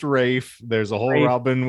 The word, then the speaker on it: Ralph: The rest is Ralph Fiennes, as the lead, and he is absolute fines. His name ain't Ralph, honey. Where's Ralph? Isn't it? It's pronounced Rafe.